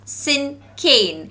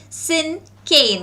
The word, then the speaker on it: Cinquain: Okay, the word is pronounced as Cinquain. Alright, how do we pronounce the word? We pronounce it as Cinquain.